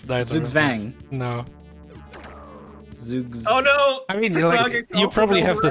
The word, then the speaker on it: Zugzwang: to make it that exact joke basically it's pronounced it's zooksvan it's no it's the zugzwang you probably have the spelling right but it's